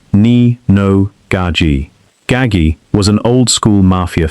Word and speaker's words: Nino Gaggi: That reputation reached Nino Gaggi, a Gambino capo, pronounced Nee-no Gah-gee.